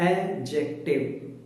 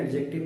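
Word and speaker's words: adjective: suniyega this इस called एडजेक्टिव एडजेक्टिव कहते हैं या एडजेक्टिव नहीं होता एडजेक्टिव होता है फ़्रेंच वर्ड है जिस वजह से इसमें दी साइलेंट है अमीर इंग्लिश अबाउट डी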